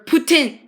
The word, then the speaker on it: poutine: yeah that's right guys poutine or Putin that's actually how it's said and go back and